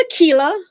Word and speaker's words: Akela: Is it Aquila or Ael? It's Akila, but it is. Okay, so you are on point.